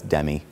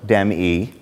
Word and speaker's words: Demme: pronounce my last name usually if someone calls says is dem there or to me than I know it's telemarketer and I hang up even when I was introduced Dimitri goes how do you pronounce your last name because it it doesn't make like you can't look at and go oh it's Demi so Demi it helps you pronounce